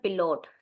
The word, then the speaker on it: Pilot: pilot is called their pilot this is spelling is same but pronunciation is bit different so their pilot is